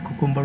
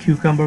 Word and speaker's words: Cucumber: অনেকে কুকুম্বার উচ্চারণ করে, অনেকে কিউকাম্বার উচ্চারণ করে, হোয়াট এভার, যেটা আপনার পছন্দ সেটা করবেন। কিউকাম্বার উচ্চারণ করতে আমি পছন্দ করি।